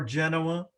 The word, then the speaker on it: Genoa: Genoa Middle School in Ohio, or Genoa, if you want to do the Italian pronunciation.